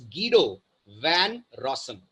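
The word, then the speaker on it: Guido van Rossum: not pronounced as गुडो his name is गडो वन रसन right nationality wise Denmark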